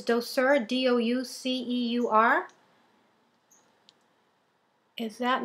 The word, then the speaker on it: Douceur: And again, I know I'm not going to pronounce it correctly. It's Douceur, D-O-U-C-E-U-R.